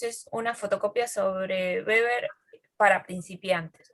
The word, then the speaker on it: Weber: dulce y de beber se escribe de webber pero se dice beber y bueno este autor